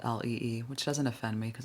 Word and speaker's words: Leigh: I'm personally used to people mispronouncing my name. My name is Lee, spelled Leigh. So it's way easier than it looks, that's for sure. But I get because of that damn word slay.